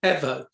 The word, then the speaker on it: Evo: haven't watched progress because roy johnson pronounces the evo well lizzy evo pronounces it ever yes so i'm gonna